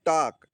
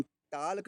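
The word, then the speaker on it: talk: अगली मीनिंग में देखिए टॉक। टॉक में के पहले के पहले एल आया है तो इसे हम टाक नहीं पढ़ेंगे। टॉक पढ़ेंगे। अगला देखिए काम।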